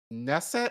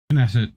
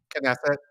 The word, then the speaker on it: Knesset: let me ask you is it nesset or knesset knesset do you have was what is it knesset with the K knesset okay um not sure